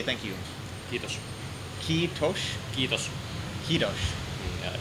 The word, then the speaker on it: kiitos: Like I told you before, when pronouncing my name, we don't use aspiration in TMK. So it's kiitos. Kiitos. Yeah, and it's like a sharp S.